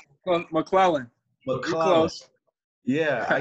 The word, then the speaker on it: McLellan: How do you pronounce it? Well, Mclellan.